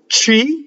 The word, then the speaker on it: ci: Ci, C-I, is ci. I in Italian always makes an E sound.